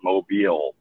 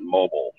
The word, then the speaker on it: Mobile: pronouncing the city right it's mobile not mobile um yeah that's one